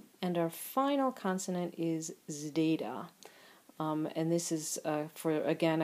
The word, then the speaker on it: zeta: And our final consonant is zeta. And this is for, again, a combination consonant for sigma and delta. It's pronounced both zd and dz, So you'll hear people doing that both ways.